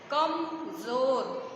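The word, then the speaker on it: कमज़ोर: आराम से पढ़ेंगे कमजोर, और जिसमें बिंदी लगा है उसको बहुत ही कठिनाई से उसका उच्चारण करेंगे। ज ज ज, जीभ को दांतों से टच करेंगे और जब बोलेंगे तो हवा साइड से निकलेगी, ठीक है। कम जोर, जोर परेशानी से आवाज आएगी, बोलिए कमजोर।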